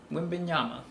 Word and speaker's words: Wembanyama: Wembanyama. There it is. It's the mod then. Yeah. Wembanyama.